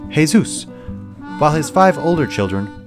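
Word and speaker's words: Jesús: play the lead character hey Zeus pronounced hay-soos while his five older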